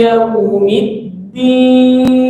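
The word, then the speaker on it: يوم الدين: Yau dan yau. Ya, awas. Banyak yang baca madlin waw atau ya itu beda bunyi. Kalau ya dibunyiin kalau waw dibunyiin o, ao. Kalau ya dibunyiin ae, bukan gitu. Ya, ai sama au.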